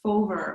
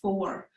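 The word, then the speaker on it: Fómhar: So for the Irish pronunciation, it's fover or for, and this is basically meaning autumn.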